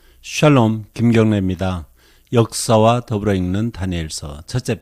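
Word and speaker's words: דָּנִיֵּאל: 첫 번째, 다니엘의 이름에 대해서 우리가 생각해 볼 필요가 있는데, 원문은 다니엘 이렇게 읽습니다. 다니엘이 아니고 다니엘 이런 발음이 되겠습니다. 히브리어도 아람어도 똑같습니다.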